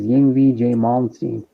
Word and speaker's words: Yngwie Malmsteen: How you pronounce it is Yngwie J. Malmsteen.